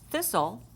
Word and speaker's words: thistle: one of their homonyms T can be silent when it has an s in front of it and we saw this before with final stable syllable t-l-e so for thistle we know there's a final stable syllable that usually says Tull but in this case it's going to go thistle the T becomes silent in that case another example would be